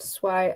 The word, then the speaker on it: Swai: So my name is Swai, pronounced Swai as it says here.